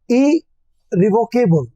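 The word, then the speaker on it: irrevocable: इरिवोकेबल, जब I double R आता है तो पहला आर साइलेंट हो जाता है।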